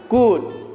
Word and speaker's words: could: masuk ke good ya Ini bacanya cool ya l-nya itu tidak dibaca jadi jangan capek kalian